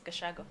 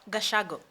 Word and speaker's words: Gachago: Yandia, I don't know how I I should pronounce your last name. Yandia Gashago. Gashago. Yes. Gashago.